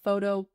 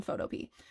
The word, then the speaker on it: Photopea: It's one of the two, but I just think of it like P, like peas in a pod. So that's how I say it.